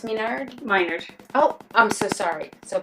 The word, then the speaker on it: Minard: It's pronounced Minard? Minard.